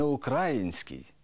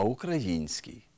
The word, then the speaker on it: український: у яких найбільше помиляєтесь не український а український не Україна а Україна не 11 14 а